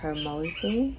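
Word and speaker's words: Hormozi: have a purpose I was listening to Alex Hermosi that's how you pronounce his last name and he said something that really was like man archetypes.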